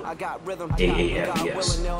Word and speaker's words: AAFES: AAFES. That's how we pronounce it, as an acronym, Army Air Force Exchange Service.